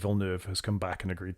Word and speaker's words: Villeneuve: wonderful direction, and I'm delighted to see Denis Villeneuve has come back and agreed to do at